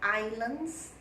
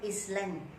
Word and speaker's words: island: Places, for example, islands. This is pronounced as island, not island. It's island. The S has no sound.